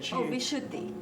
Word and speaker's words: Vishuddhi: So now, for instance, and how do you pronounce the throat chakra again? Vishuddhi.